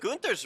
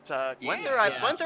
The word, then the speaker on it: Gunther: That's more kind of like what they would have said in Germany, but Gwenther, I don't know. Yeah, they just say Gwenther because it's spelled like that, I guess.